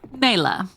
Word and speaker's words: Naylor: And perhaps there's a little more in this for Nyla. Wait, did we settle on Naylor or Nyla? We said Naylor, didn't we? Naylor.